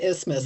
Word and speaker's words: isthmus: They said the original spelling with the TH was retained, but pronunciation just became to isthmus, like asthma.